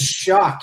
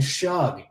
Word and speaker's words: Shuck: I'll tell you what, I was saying his name wrong for 9 months. I just learned how to say it right. He forced me to learn how to say his name right, Rob. I officially respect him as how do you say it? How do you say it's Shuck. It's not. So I've been saying Shug.